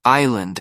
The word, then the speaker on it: island: Because I had just confidently pronounced island as Island, as if the S had every right to be there.